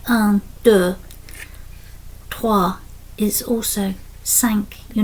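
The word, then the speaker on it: cinq: heard people speaking that often the last consonant is silent. So they don't really pronounce it like an is also sank.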